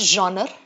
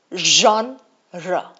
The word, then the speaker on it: genre: It is not genre. Okay? It is not genre. It is not genre. It is genre.